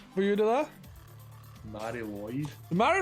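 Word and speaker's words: Mari Lwyd: Mary Lloyd. The Mary Lloyd Christmas, I think that's how you pronounce it. There's only one L, so it's Lloyd.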